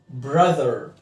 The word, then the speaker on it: brother: نفس الحكايه الاو هنا بنطقها والتي اتش بنطقها brother.